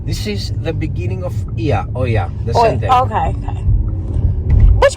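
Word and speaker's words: Oia: For me, it's Ia. Yeah. But we call it also Oya for you. Not only for you, for all of you. But we pronounced it Ia.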